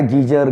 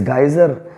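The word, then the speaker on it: geyser: सब लोग कहते आए गीजर गीजर ज्यादा आता है हम लोग पानी गर्म करते हैं इसमें नहाने के लिए लेकिन बोलते क्या है गीजर ठीक करिए इट इस नॉट गुजार इट इस गेसर स्पेलिंग इस जी ए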